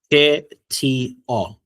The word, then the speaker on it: кто: After the letter K, you don't put any sound there.